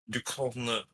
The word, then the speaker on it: Ducournau: They said you're supposed to pronounce it like U dash EOOR dash NO. Corno.